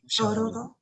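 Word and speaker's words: 鐘楼堂: Shorodo, I suppose. Okay. Shorodo. Shorodo.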